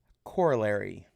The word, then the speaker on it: corollary: you know it's a it's a corolla with a rye at the end with an ry at the end it's corolla with an roi corollary except you you know you put emphasis on different syllables right corollary corolla coronary